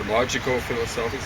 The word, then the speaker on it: Logico-Philosophicus: The Tractatus Logico-Philosophicus or Logico-Philosophicus is how you pronounce it.